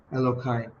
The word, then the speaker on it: Elokai: Elo is spelled E L O K A. Elohai.